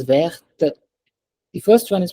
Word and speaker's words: verte: because of E, the second one is pronounced as verte. The first one is pronounced as vert. The second one is verte.